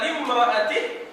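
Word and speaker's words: لامرأته: Faqala limra'atihi. Tengok cara baca ya. Faqala limra'atihi. Hamzah tak ada. Dia Hamzah tu dipanggil wasal.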